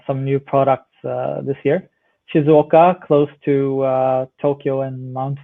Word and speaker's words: Shizuoka: Is that how you spell it? Shizuoka, yeah, I will go into that in a minute.